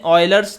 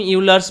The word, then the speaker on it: Euler: है वो आता है ऑयलर्स थ्योरम से। ठीक है, ऑयलर्स थ्योरम या उसका स्पेलिंग है EULERS, तो ऑयलर्स को तुम यूलर्स भी बोल सकते हो।